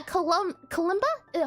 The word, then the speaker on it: kalimba: And then here for our Herbalmancer, a Kalimba.